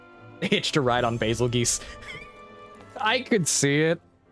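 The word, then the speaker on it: Bazelgeuse: And yes, I know it's actually pronounced basil geese, but basil goose is much more funny.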